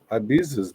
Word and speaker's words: Ibiza: Where's the Z at? Don't tell me it's silent. Ibiza. That's a stupid name too. Ibiza's better. It's a Spanish pronunciation.